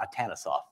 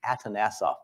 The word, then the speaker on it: Atanasoff: name is often mispronounced it's not atanosov it's atanasoff I have it on